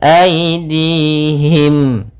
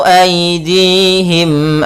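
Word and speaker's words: أيديهم: banyak W amilatu aidihim pada lafal Ai di sini ada bacaan Lin yaitu lembut dalam pelafalannya aidihim Nah di sini ada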